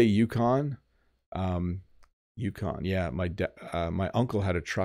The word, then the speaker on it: Yukon: How do Canadians generally pronounce it? So I say Yukon.